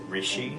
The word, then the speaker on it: Rishi: The correct pronunciation is Rishi. Rishi? Most people say Rishi.